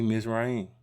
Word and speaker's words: Mizraim: Just for see Mizraim. Okay. That's how you say it in Hebrew.